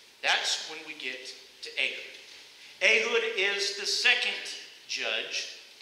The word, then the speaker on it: Ehud: So go ahead and say it with me, Ehud. There you go. So if you learn anything, you now know how to pronounce Ehud.